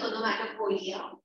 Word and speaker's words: onomatopoeia: The spelling is onomatopoeia, but the pronunciation is onomatopoeia.